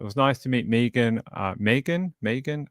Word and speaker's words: Megan: Megan. I always say the American version of it incorrectly because everyone here is called Megan, with the different pronunciation.